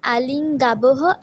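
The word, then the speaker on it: আলিঙ্গাবঃ: বিসর্গ উচ্চারণ করতে হবে। বিসর্গের উচ্চারণ হচ্ছে না সোনালি। আলিঙ্গামিহি, আলিঙ্গাবহ, আলিঙ্গামহ।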